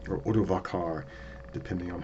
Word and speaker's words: Odovacar: And we come across a man named Odoacer, or Odovacar, depending on how you pronounce it.